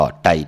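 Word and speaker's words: Tai: ค่ะ ต่าง Facebook ก็ ไต ไทย 198 T A I อ่าน ว่า ไต T AI อ่าน ว่า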